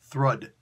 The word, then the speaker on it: Thrud: Yeah, that's actually how it's pronounced too. Thrud. I just looked it up really quick. It means strength in Old Norse. Awesome, but it's only with 1 D, not with 2.